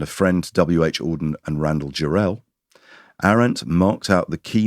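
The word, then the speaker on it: Jarrell: We learned how to pronounce Randall Jerel about eight years ago and we and we have yet to forget it's not Randall Gerald, it's Randall Jerel.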